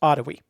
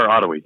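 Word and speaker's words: Otowi: talk and that uh that house at a towie bridge right there that um by the way that's uh pronounced ottawi or ottawi yeah okay that's what happens when i'm only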